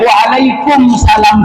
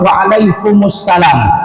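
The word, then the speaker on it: Waalaikumussalam: Ketika diucapkan salam, Assalamualaikum warahmatullahi wabarakatuh, kalau dijawab Waalaikumsalam salah. Diaminnya nggak boleh dimatikan, harus berbaris dhammah, Waalaikumsalam.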